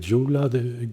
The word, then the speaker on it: Gyula: The town is called Gyula — it’s spelt with a G but pronounced with a D in Hungarian.